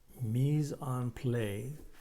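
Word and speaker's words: mise en place: of your coins obviously meson play play applause is how you pronounce that everything has a place and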